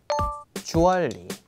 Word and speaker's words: jewelry: Jewelry. Jewelry. Jewelry. Jewelry. So jewelry, right? Well, no, in British English, the jewel is the part you stress in the word, so re just becomes one sound.